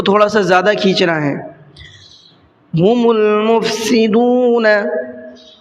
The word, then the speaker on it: هم المفسدون: سا زیادہ کھینچنا ہے۔ ہم المفسدون، ہم المفسدون میں یہ دیکھیے الف ہے، یہ الف نہیں پڑھا جائے گا، میم کو ڈائریکٹ لام میں ملانا ہے۔ وَلَكِن لَا يَشْعُرُونَ، وَلَكِن